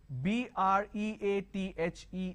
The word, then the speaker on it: breathe: the this rhythm breathe so b-r-e-a-t-h-e is breathe b-r-e-a-t-h is breadth breathe is a verb breath is noun okay now let's move